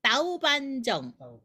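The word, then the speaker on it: 豆瓣醬: 그래서 한국 발음으로 두반장은 광동어로는 따우반정입니다. 따우반정.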